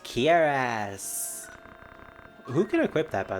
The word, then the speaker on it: cuirass: It's pronounced Kiras.